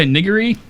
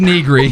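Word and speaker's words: Nigri: Jessica Niggery, and Jim Sterling. Wait, whoa! Back that train up. Say Overclocked Remix? No, the second name. Jessica Niggery? What? Negri. What? It's pronounced Negri.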